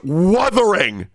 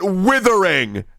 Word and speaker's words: Wuthering: ungrateful it's weing not withering okay channel so I got into the withering waves it's weing okay and I'm going to